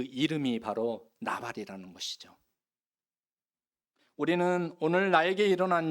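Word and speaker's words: נבל: 없도다 여기에서 어리석은이라고 하는이 단어는 히브리어로 발입니다 여러분 발이라고 발음하는데이 나발 아시죠 아비가일의 전남편 나중에 다윗의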